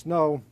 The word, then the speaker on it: snow: a snow or snau but it's pronounced snow two masted shallow draft